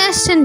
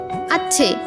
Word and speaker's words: আসছে: পূর্ণা বলল, উপরে চলে আসছেন কেন? দূরে বসুন। বাসন্তী দ্রুত সোজা হয়ে বসেন। পূর্ণা বলেন, এবার বলুন সন্তান। সন্তান। ফাটাফাটি হয়ে গেছে। এবার বলুন আসছে। আচ্ছে। আরে আবার ছ উচ্চারণ করছেন কেন? বলুন আসছে।